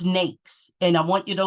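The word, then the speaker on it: NAICS: classification system code and nakes rhymes with cakes and I believe that's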